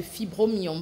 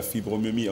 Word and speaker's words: fibromyome: Même Priscille aussi, on a essayé d'évoquer un petit peu la fibromyome, ou la fibromyomie, on dit quoi? Fibromyome. Fibromyome, oui.